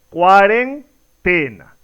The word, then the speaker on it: cuarentena: Si hacemos este ejercicio nos damos cuenta que la pronunciación correcta es cuarentena.